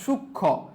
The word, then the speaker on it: সূক্ষ্ম: কি, যুক্ত ব্যঞ্জন বর্ণের সঙ্গে সংযুক্ত মফলার উচ্চারণ হয় না। যেমন দেখো সূক্ষ্ম, এই যে সূক্ষ্মর মধ্যে